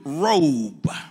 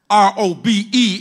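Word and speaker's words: רֹב: It's pronounced in the Hebrew robe. R-O-B-E in our language, but in the Hebrew, R-O-B, robe, his excellent greatness.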